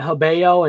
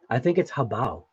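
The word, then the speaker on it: Hobao: And you know what's funny is I think my daughter actually told me that I was saying it wrong, because she heard me calling it Habeo, and she was like, "Dad, I think it's Habao."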